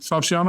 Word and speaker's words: Falchion: Falchion Award?